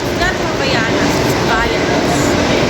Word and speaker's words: Havaianas: All right guys Ayos na buto-buto original Havaianas from Brazil havanas ang pronounce pa nito jaai see you Salvador ha